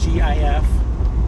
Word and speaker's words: GIF: Most people look at that and they say GIF, because it's like the word gift. And there are more words, I think, in that situation that would be a hard G than a soft G,